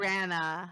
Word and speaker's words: Branagh: This Branagh? guy. How do you say his last name? Branagh.